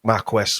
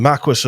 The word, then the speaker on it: Marquis: the Dukes of Douglas and the Marqu Marque Marquest, whatever you want to call it. I got bollocked by somebody for that the other week, pronouncing it wrong. the Marquis of Douglas.